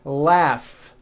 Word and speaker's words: laugh: a strong our freedom laugh notice the gh combination in that word laughs telephone notice the pH